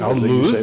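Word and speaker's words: al-Lawz: Al-Luz, as the Bedouin pronounce it.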